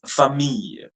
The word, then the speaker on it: famille: The next word, which is family, don't pronounce it as family. It's famille, famille, famille.